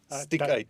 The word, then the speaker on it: Stiekyt: And how we must pronounce correctly? Stiekyt.